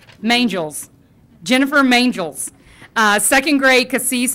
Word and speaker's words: Mangels: Jennifer Menhels, right, Menhels? Rhymes with angels. Mangels.